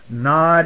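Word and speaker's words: Nowd: Nod is used only once in your Bible, and Strong's Concordance shows us that it was N-O-W-D, pronounced Nod, changed to Nod.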